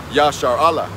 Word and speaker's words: Yasharahla: So that's how it's pronounced in the Paleo Hebrew tongue, Yasharahla.